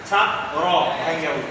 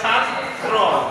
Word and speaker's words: ছাত্র: ছা র উচ্চারণ করি আমরা বলি না ছাদ র ছাদ র উচ্চারণ আপনি এই ছাত্র এই ছাত্র দেখবেন উচ্চারণ কইরা দেখেন আপনি শুদ্ধটাই বলি কিন্তু আমরা অন্য সময় বুঝি কি আলাদাই বলতেছি ছা র কিন্তু ছা র হবে না কি হবে ছাত্র ছাত্র হ্যাঁ বুঝতে পারছেন তাহলে